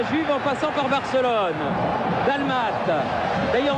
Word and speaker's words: Dalmat: Dalmat. D'ailleurs, on dit pas d'Almate. J'ai reçu une lettre très sympa de la Martinique Jean-Michel et on doit dire dalma sans prononcer le thé.